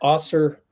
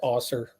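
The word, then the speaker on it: Ausar: for number one pick oser Thompson pretty sure it's pronounced AER but I was not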